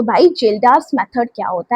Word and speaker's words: Kjeldahl: ध्यान से सुनो बच्चे इसमें एक तो के आपका साइलेंट है। ये जो के दिख रहा है ना ये वाला ये आपका साइलेंट होता है। ठीक है? क्या बोलते हैं? जेल्ड्स मेथड।